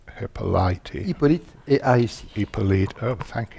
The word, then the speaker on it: Hippolyte: We're coming on now to Jean-Philippe Rameau's, how do you pronounce Hippolyte? Hippolyte et Aïs.